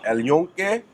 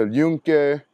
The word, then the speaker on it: El Yunque: Yes, like, El Yunque. Is that how you say it? yeah, El Yunque.